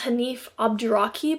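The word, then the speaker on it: Hanif Abdurraqib: It's Hanife Abdraib, I think is how you say it.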